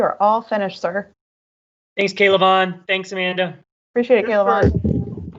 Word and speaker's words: K'Lavon: all finished sir thanks kaylavon thanks amanda appreciate it caleb just for you all's reference it's k levon as in three syllables starts with a k so k levon chase on thanks david i appreciate